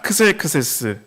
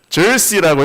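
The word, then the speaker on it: Xerxes: 그 그리스 쪽으로 옮기니까 크세크세스. 예. 그다음에 이게 그래서 우리 성경에는 아하수에로라고 이렇게 되어 있습니다. 네. 그래서 영어로는 또 크세크세스를 절시라고 이렇게 발음을 하죠. X를 또 발음해서.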